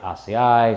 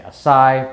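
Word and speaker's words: açaí: right some people say asea some people say acai but i'm just gonna call it acai berry for now uh and i'm pretty sure that's the proper way to say it in powder form or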